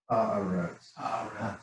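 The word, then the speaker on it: הארץ: 3 syllables. Yeah. Haaretz.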